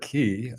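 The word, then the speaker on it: Circe: If we treat them as hard C's, we get kiri.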